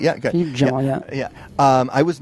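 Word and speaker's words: Philippe Djian: my part, I was not really aware of Philippe Gian. Am I even pronouncing the name correctly? Yeah, good. Philippe Gian, yeah.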